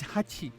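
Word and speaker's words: はち: seemed you can speak the Japanese for eight is Hachi the hatch of Hachi sounds like the word hatch the eve of hatch she sounds like the first part of the word EMU the emu stops in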